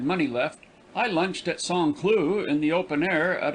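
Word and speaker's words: Saint-Cloud: village just outside of saint cloud pronounced song clue it is given up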